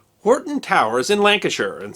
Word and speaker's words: Hoghton: The family first took the name Horton, spelled Hoghton but pronounced Horton, in 1150.